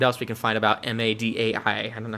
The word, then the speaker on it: Madai: All right, let's hop over here to Wikipedia and see what else we can find about M-A-D-A-I. I don't know how to say their name.